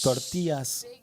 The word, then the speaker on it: tortilla: Tortillas. Yeah, because 2 L's is like a Y, kind of. It basically, yeah. It's like yogging.